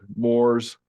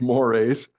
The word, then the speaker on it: mores: mores had to explain to my students that Moors it's not pronounced Moors it's mores which is it's a very tough uh word